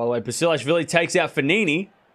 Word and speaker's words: Fognini: By the way, Basilashvili takes out Fognini. Or Fognini, if you want to be literal with it. But the G is silent.